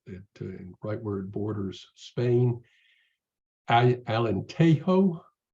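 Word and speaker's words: Alentejo: rightward Borders Spain I Alan tehoe I believe is how they pronounce it it's a Charming town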